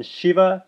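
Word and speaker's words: शिव: teeth are slightly apart so for the first one sha as in Shiva with teeth fully closed together the second one sha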